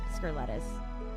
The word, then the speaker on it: Scurletis: How do you pronounce it? Scurletis.